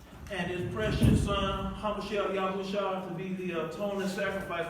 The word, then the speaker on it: Yashra'al: When you hear, because we have visitors today, when we say Yashra'al, we're saying Israel. That's the Hebrew pronunciation.